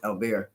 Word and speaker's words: Albert: Oh, Albert. Um they pronounce it Albear.